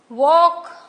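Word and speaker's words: walk: टी E silent है वक L silent है रंग डब्लू साइलेंट है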